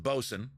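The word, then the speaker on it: boatswain: know is the word but I know that you pronounce it bosen right for all you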